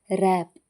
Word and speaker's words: wrap: ರ್ಯಾಪ್ ಸುತ್ತುವುದು. WRAP. ಇಲ್ಲಿ W silent ಆಗಿದೆ.